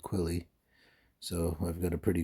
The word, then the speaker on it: Quily: a ghilly suit and Gilly rhymes with quilly so I've got a